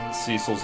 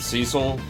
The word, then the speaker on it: Cecil: Mega Magicite says, then again, Dissidia also pronounces Cecil's name with a short E rather than a long E, and pronounces Zidane's name as Zidane. Yeah, I always said Cecil as a small child,